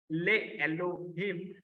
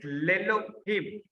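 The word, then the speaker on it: לֵאלֹהִים: This is lay Elohim, not lay Elohim, but it is Lelohim.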